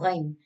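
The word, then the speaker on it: غین: Now ghain. Ghain, same thing pronounced on that top part of the throat, like gha.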